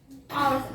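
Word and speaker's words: hours: Arts होता है ना, आवर्स, आवर्स ऐसे कहते हैं लोग, ठीक है। आवर्स पढ़ते हैं, ठीक है। तो अब उसको हम पढ़ते हैं आर्ट्स, लेकिन आवर्स लिखते हैं, ठीक है। तो यहाँ पे एच साइलेंट है, इस वजह से यहाँ पे क्या लगेगा, एन।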